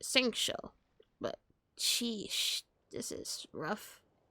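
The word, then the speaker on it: Xingqiu: That's how you pronounce it, Singcho.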